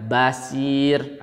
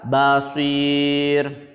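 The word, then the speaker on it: بَصِير: diperhatikan adalah kalimat atau kata Basyir free itu sport bukan Sin gak boleh kalian membacanya Basyir itu salah yang benar adalah Baal Veer kita ulangi ayat huwalladzii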